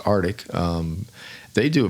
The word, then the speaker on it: RTIC: like Artic does pretty it's RTI pronounced Artic um um they do